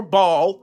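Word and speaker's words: Baal: you early you have Bale worship or ball however you want to pronounce it b a a l you have ball Sam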